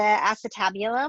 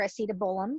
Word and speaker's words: acetabulum: The articulation between it is, remember, the head of the femur is coming in and connecting with the acetabulum or acetabolum, depending on how you want to pronounce it, found within that hip complex.